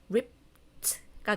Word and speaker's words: ripped: 이쪽 그래서 rip 이거는 얘로 끝나죠. ed 앞을 봤더니 무성음으로 끝나네. 그러면 이 ed를 t로 발음해야 되겠다 해서 얘는 ripped가 되는 겁니다.